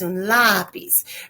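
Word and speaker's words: lápiz: a s lobby's as lapiz remember we do not want it to be pronounced in the piece like French class it's it's a accent on the a assume that B's masculine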